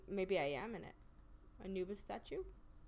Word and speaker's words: Anubis: Anubis. That is how you pronounce Anubis.